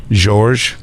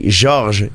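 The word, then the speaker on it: Georges: comes to see me he's like how do you pronounce again I'm like George he's like it's not George I'm like George it's American way to say it but it's fine I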